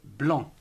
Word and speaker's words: blanc: ces finales comme par exemple le bon qui s'écrit banco1 ne prenant pas le c'est tout comme alors cette couleur le blanc blanc14 existe d'autres mots comme le flanc le